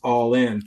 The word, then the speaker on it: Allen: joke and I said people pronounce my name wrong it's actually pronounced Allin so when you kept